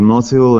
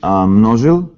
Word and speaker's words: Mnozil: Well, originally should be Mnozil, Mnozil, yeah. as a Czech name, family name, but they moved like long time ago to Vienna, and then actually like the Z is pronounced Z in German, so it's just become Mnozil.